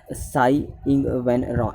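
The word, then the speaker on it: Tsai Ing-wen: ठीक है, नेक्स्ट है साई इंग वेन रे। ठीक है, ध्यान रखना जो टी है वो साइलेंट रहता है इसमें, तो साई इंग वेन रे जो है वो प्रेसिडेंट बनाए गए कहाँ के?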